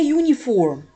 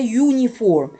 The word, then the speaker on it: uniform: consonant sound okay a uniform a uniform the letter u U listen to the sound U not a u a uniform a European country a